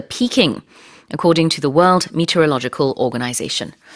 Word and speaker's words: meteorological: according to the World Meteorological Organization. 요 meteorological, 요 발음이 참 쉽지가 않은데요. 강세를 logical에다가 넣는다라고 생각하고 그냥 눈 딱 감고 발음을 하셔야 됩니다.